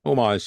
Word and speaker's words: homage: you know emulated or homaged if I said it right many times um but omage is correct I was just talking